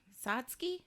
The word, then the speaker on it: Satsuki: Satsuki? Yes. Oh, God. Satsuki. That's easy to pronounce.